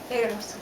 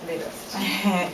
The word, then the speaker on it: Legros: Legros. Legros. The S is silent.